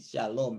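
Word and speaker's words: שלום: Shalom ini kan, lihat kan, ini shalom ini. Tidak ada nikutnya. Tapi kalau ketemu dengan kata begini dibacanya shalom. Ada sin, lamet, kemudian ada waw, kemudian ada mem. Jadi shalom.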